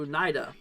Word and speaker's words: Oneida: let's see here um storm geek says it's pronounced uh Onida okay uh or oh oh Oneida okay thank you so much for uh correcting